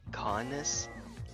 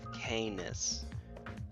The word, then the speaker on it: Canis: I've been pronouncing it Conus instead of Canis, so because Latin, that's why.